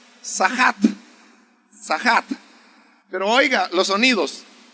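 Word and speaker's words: צחק: La palabra que aquí dice burlarse en el hebreo es una palabra que se pronuncia sahat.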